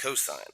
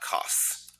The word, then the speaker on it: cosine: And again, that's pronounced cosine, not cos.